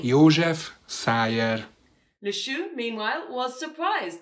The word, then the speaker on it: József Szájer: Making sure that everyone would get the correct news, Hungarian journalist Sándor Siros gave a quick tutorial in how to pronounce his name. József Szájer.